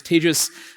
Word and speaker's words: Tagus: introduction my name is tagus that's pronounced like contagious don't worry I'm not